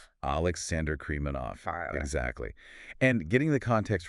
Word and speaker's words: Krimanov: So we want to make sure we get the pronunciation right throughout this deep dive. Right. It's Alexander Kremanov. Alexander Kmanov.